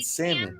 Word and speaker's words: salmon: picture Larry the L is silent in salmon good morning Joe